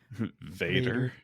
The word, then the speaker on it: Vader: right three two one Vader Vader yes and not as Bella says in Pitch Perfect fader and German meets father